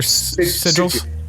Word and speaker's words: sigil: you know is cull is it siges you pronounce siges or sigil yes sigil yeah sigils pronunciation sigil